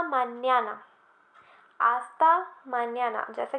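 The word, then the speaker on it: mañana: ये बताया था कि ये जो एन के ऊपर तिल्दे होता है, मैंने इसका नाम बताया था, शायद आपको याद होगा. ये जो एक्सेंट होता है इसके ऊपर थोड़ा सा है ना, इसे हम बोलते हैं तिल्दे. ओके, तो इसकी साउंड क्या निकलती है जब ये एन के ऊपर होता है, मान्याना, एन्ने. राइट, मैंने आपको बताया था, याद होगा आपको. तो आस्ता मान्याना, मानाना नहीं बोलेंगे, इसे मान्याना बोलेंगे.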